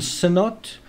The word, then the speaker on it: Sinnott: This guy Archie Bland, he's gotten hold of some really great experts like John Sinnott. If you say his name really quickly, it's like Snot.